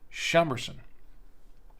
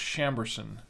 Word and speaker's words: Chambourcin: I think here in the states it's pronounced chamberson I believe so I've heard it both ways so uh you know